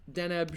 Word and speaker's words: Deneb: It's Deneb. I think it's Deneb. Deneb, sure.